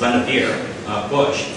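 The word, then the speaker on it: Vannevar Bush: is very difficult to pronounce um but it's pronounced lenavir bush so his first observation was that scientists and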